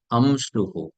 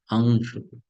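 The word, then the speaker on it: अंशुः: So this is not pronounced as amshuhu. It is pronounced as angshuhu. Angshuhu. Not amshuhu. Angshuhu. Can you make the difference? Make out the difference? It's not amshuhu. It is angshuhu. Angshuhu. That ang sound should come from the nose.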